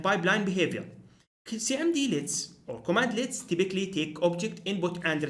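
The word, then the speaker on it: cmdlet: or command slits so command in Powershell are called commandlets pronounced as commandlets as obviously unlike many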